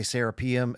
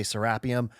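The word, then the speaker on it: Serapeum: Um, you know, Americans say sapium. Egyptians say sarapium. I've been living in Egypt long enough where I've picked up the pronunciation of saying serapium.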